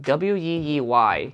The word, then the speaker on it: Weeylite: we light wii lights their name is spelled w-e-e-y so i was like wee i just got a movie light it's a sound killer i got a wee light uh ninja 300